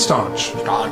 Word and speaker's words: staunch: Stanch the wound? Staunch. Staunch. Not spelled like staunch. You think there should be an U in there.